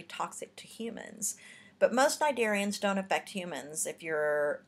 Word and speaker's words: cnidarians: All right, cnidarians. The sea is silent, but cnidarians are stinging nematocyst invertebrates for the most part.